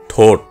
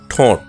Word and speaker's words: ঠোঁট: উচ্চারণ করে বলবো ভাইরাল সঠিক উচ্চারণ ঠোঁট অর্থাৎ চন্দ্রবিন্দুর ব্যবহার রয়েছে আমরা অনেকেই ভুল উচ্চারণ করে বলি ঠোঁট না সঠিক উচ্চারণ করে বলবো ঠোঁট বন্ধুরা আপনি নিজে শুদ্ধ